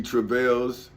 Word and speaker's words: travail: the persecutors behold he travails with um iniquity nah that's travails is not travel like I thought it was it's uh it's travail for which is defined as